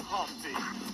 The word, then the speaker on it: Humpty: My name is Humpty, pronounced with a umpty.